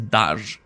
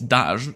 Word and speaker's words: Daj: The reason I say it's Daj is one of the gods of Slavic, one of the Slavic gods. Of course, the name of him and the pronunciation vary from people to people, but I think in my country it's called the Dajbog, which is bog is god, so yeah, the Daj god basically. Tor is, yeah, pretty obvious what that is.